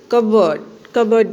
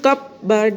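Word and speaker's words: cupboard: कबर्ड यानी कि अलमारी, हम कहते हैं ना, उसे कपबर्ड नहीं कहते, कबर्ड यानी कि पी को साइलेंट करना है, पी की आवाज़ हमें नहीं निकालनी है।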